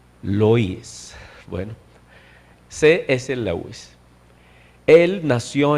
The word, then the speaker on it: Lewis: Así como se escribe, pero se pronuncia Clive Staples Lois.